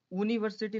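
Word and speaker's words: university: तो इसमें क्या है, बाय यू है, यूनिवर्सिटी है, यानी यूनिवर्सिटी नहीं है, इसे हम ऊनी नहीं पढ़ेंगे, यूनी करेंगे।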